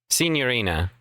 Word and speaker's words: Signorina: Senorina. I've been been pronouncing it incorrectly. I'm sorry. I've been in too many syllables.